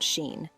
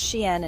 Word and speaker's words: Shein: Yes, Shein is pronounced Shein and not Sheen.